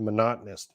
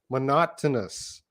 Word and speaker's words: monotonous: It's so hard to pronounce this word monotonous. I know, eh? It's hard for me. Monotonous. Monotonous. Monotonous. I think every O has a different sound.